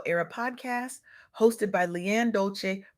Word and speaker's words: Dolce: Welcome to the soft girl era podcast hosted by Leanne Dolce, pronounced dolce like sweet softness whispered in French.